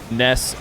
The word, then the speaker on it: Nass: real jar just asked it is pronounced Ness I have talked to him a few times about it because of course English speakers will read his name as Nas I feel like the